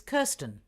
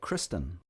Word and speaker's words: Kerstin: is Matteo that's in a test-1 oh it's Kerstin was that Kristen no I'll spell it for you okay I r s te